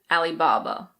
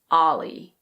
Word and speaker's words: Alibaba: In English we pronounce it Alibaba. Alibaba. You can also pronounce the first part as "Ahli", so you can say Alibaba. But both are correct.